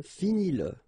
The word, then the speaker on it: finis-le: Remember that if you've got, in some situations, the pronoun le, and if it comes after your verb, like in that case, then you will have to pronounce it.